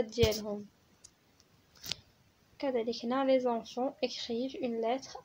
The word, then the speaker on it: écrivent: وكذلك ENT هنايا ما كتنطقش، ما كنقولوش les enfants écrivent وانما كنقولوا écrivent. نشوفوا واش كنقولوا les élèves remercient leur اولا leur professeur.